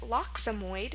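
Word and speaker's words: loxommoid: And it's pronounced lockxomoid.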